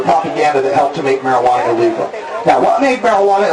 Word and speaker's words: marijuana: the Mexicans in their marijuana marijuana it even sound it's got a j but you say it like a w it's foreign it's scary